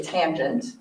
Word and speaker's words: tangent: r and once again we don't say tan we say tangent and that is y